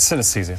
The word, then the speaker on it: synesthesia: Jamie Ward to explain his condition synesthesia did I pronounce that that's correct synesthesia synesthesia okay so we've never heard of this